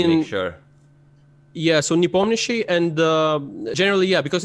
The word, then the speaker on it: Nepomniachtchi: Like I always pronounce it Nepomniachtchi. Is that okay? Jan's, Nepomniachtchi. Yeah. Yeah. Okay. So Nepomniachtchi, because yeah, please.